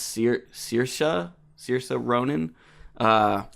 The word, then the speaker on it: Saoirse: name is pronounced seer Saoirse so you're so Ronan uh yeah how do you pronounce the sailors layered well I saw on wikipedia that Irish people pronounce it saoirse see her but she would say